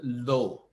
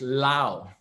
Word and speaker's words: Low: low huh but actually my surname is lao but it's written as low so for many people